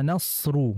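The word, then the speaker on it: نصر: berikutnya adalah idza Jaa nasru nasru ini huruf shadnya seperti terdengar ee sedikit memonyongkan bibir nah ingat pemirsa juga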